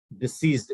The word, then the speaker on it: deceased: Deceased is how you pronounce the word.